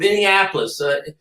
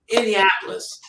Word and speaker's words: Indianapolis: great uh uh from Indianapolis is is a city Indiapolis in Indiana is it no I'm saying it wrong he's from Indiapolis not Minneapolis Indi Indian Indianapolis is Indiana yeah yeah flies a